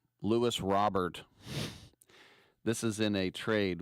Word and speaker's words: Luis Robert: I always say it like he's French. Louis Robert.